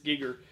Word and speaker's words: Giger: know HRE drawings and it's Giger. Sorry, Giger. Yeah, Giger. Yeah, I had to wean myself off of my old pronunciation of it, too. But it's Giger. And uh man, they they